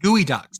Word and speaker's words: geoduck: Gooey ducks. That It's is pronounced Gooey pronounced ducks.